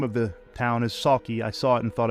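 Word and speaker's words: Sauchie: It's been called the Amityville Horror of Scotland, and the name of the town is Saki. I saw it and thought it was Souchi, but I know nothing about, you know, Scot Scottish accent and pronunciation or Scots.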